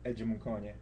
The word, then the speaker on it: Edim: I tell them when I say my name first I say edim but then I tell them pronounce it how you'd say edimunation education. Okay.